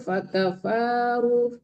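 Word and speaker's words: فَكَفَرُوا: Dzalika bi annahum kanat ta'tihim rusuluhum bil bainati fakafaru Fakafaru. Jangan fakafaru. Fakafaru. Nggak boleh dipanjangkan di situ yang panjang huruf.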